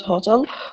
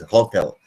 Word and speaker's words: hotel: the this word as Hotel this is hotel hotel you stress the second syllable not the first syllable you say hotel okay